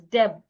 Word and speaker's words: debt: For example, if I want to pronounce the word d e bt, the letter b in this word is silent. So I should not pronounce the word as debt because the B is silent.